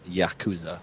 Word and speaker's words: Yakuza: Yakuza? Yeah. It's All right. pronounced Yakuza.